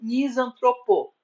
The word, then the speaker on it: misantropo: O indivíduo antissocial, solitário, denomina-se pessoa misantropa ou sujeito misantropo. A sílaba tônica é tro, a penúltima, portanto, trata-se de vocábulo paroxítono. É misantropo ou misantropa.